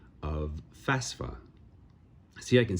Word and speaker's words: FAFSA: uh things that I learned is the proper pronunciation of FAFSA see I can say it just fine now before nope FAFSA FAFSA man still see my brain fights it